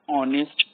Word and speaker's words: honest: in this example also honest that is h in styling that's why we use the article and before singular word that start with and h that is silent that is an honest